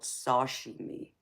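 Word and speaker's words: sashimi: confuse is there's a um another dish called Sashi me and it's spelled s a s h i m i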